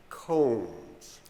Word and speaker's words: Combs: comes with two o's pronounced just like the thing you comb your hair with say it Combs say the whole name